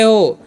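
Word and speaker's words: who: डब्ल्यू एच ओ तो इसे हम पढ़ते हैं हु।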